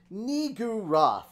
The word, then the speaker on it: Niggurath: I didn't try to pronounce it. Niggurath.